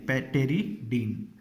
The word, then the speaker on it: pteridine: उसका नाम है टेरिडीन, पी साइलेंट रहता है इसमें भी, PTERIDINE, टेरिडीन।